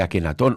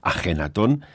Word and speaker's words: Ajenatón: Tristán, vamos a por una tercera parte, porque también me gustaría, ya que hablas de Akenatón o Ajenatón, como tú lo dices muy bien pronunciado, Ajenatón, que habláramos de su